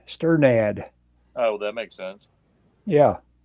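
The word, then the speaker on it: Strnad: do you say that it's pronounced stir nod sternad oh that makes sense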